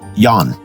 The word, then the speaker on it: Jan: It may take a little imagination to make the transition, however, such as understanding that the name Jan in Scandinavian countries is masculine and is pronounced yan.